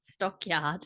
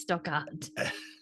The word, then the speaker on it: Stockard: It's not Stockyard, it's Stockard. Well, You said Stockyard.